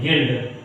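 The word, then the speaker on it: guild: गिल्ड, तो जी यू आई एल डी, समझ गए। तो अब इसमें यू क्या हुआ, नहीं पढ़ा गया, जी यू आई एल डी, ठीक है, गिल्ड पढ़ा गया, समझ गए। यू साइलेंट होगा क्योंकि आई आया है।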